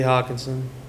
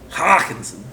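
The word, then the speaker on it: Hockenson: Hawkinson. You didn't say it right. Hawkinson.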